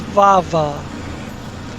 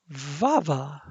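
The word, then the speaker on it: Vova: But a chick with a Russian accent, her name was Vava, V-O-V-A, and she pronounced it Vava.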